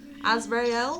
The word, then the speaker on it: Azriel: I'm just gonna go with Azriel. Azriel's better. I didn't know what last session I remember the first time I ever introduced her, I said it wrong. I heard it come out your mouth and I was like, that's not how I thought it's been pronounced.